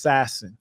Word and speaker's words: Sassin: So that's pronounced Sassin. Oh, Sassin. Okay.